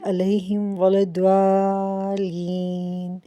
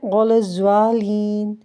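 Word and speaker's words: ولا الضالين: الضالین پڑھتے ہیں تو کچھ لوگ اس کو ایسے پڑھتے ہیں ولا الضالین ولا الضالین، یعنی زوا اور زا کا تلفظ نکالتے ہیں۔ تو ٹھیک طریقہ یہ ہے غیر المغضوب علیہم ولا الضالین۔ دوبارہ سے بتا دیتی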